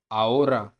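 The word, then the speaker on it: ahora: एच मैंने पहले भी बताया था, एच हमेशा वर्ड्स के अंदर साइलेंट रहते हैं। जैसे कि फर्स्ट लेटर फर्स्ट वर्ड पे चलते हैं। ओला, ओला मतलब हेलो। सेकंड है ओम्ब्रे, ओम्ब्रे मतलब मैन। थर्ड है आओरा, आओरा मतलब नाव।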